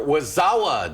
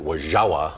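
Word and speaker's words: Wo-Zha-Wa: Well, the Wisconsin Dells gearing up for Wazawa Days this weekend. Wazawa means fun time in native Ho-Chunk. I think the proper pronunciation is actually Wajawa.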